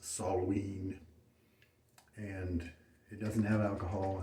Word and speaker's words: Samhain: well after the shave i brought samhain properly pronounced soloween and it doesn't have